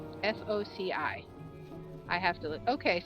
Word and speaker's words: foci: Alright, how to pronounce F-O-C-I.